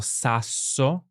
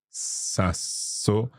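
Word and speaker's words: sasso: consonants they are and you can elongate the sound as we did with so we elongated the sound yeah for a bit longer so we have for example saso saso is that the rock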